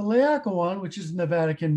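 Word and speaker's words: Laocoön: of this famous sculpture the lawyer layakawan oh man i mispronounced the aqua one you're going to take away my phd here um the liakowan which is in the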